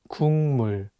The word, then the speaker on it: 국물: The consonant 기역 is for G sound in English, so you can read it as 국. But it's paired with the nasal sound 미음, so it changes the pronunciation from a G sound to an NG sound, and you need to read it as 국물.